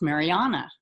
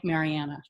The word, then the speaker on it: Mariana: tricia in 2001 then my name's pronounced mariana but if you meet me in america people here call me marianna very so both ways but through trisha